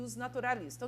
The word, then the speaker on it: jusnaturalismo: doutrina do ios naturalismo a gente escreve jusnaturalismo e pronuncia os naturalistas um direito natural e